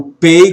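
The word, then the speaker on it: פ: O pei com pontinho tem som de P, sem um pontinho tem um som de F.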